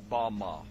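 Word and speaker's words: במה: which Satan fell is Strong's Hebrew word 116 pronounced Bama Bama is most commonly used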